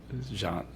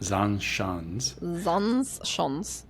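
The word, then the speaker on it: Zaanse Schans: So we went to, how do you pronounce that? Zandschans. Zandschans.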